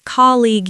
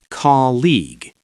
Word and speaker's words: colleague: People often say colleague. You. The u e at the end is completely silent. It is pronounced colleague.